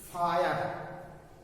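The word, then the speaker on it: fire: गिना जाता, नहीं माना जाता है, अगर वावेल साइलेंट है तो। जैसे देख लीजिए फायर, फायर, Wavell फायर, आई आर ई, एफ आई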